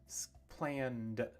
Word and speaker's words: planned: Planned, planned. But it's not planned. It's not planned. It's just one sound, one syllable.